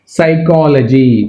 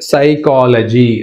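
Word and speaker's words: psychology: తోటి సామ్ అనకూడదు సామ్ సైకాలజీ P silent సైకాలజీ right P అనేది ఇక్కడ silent and next one receipt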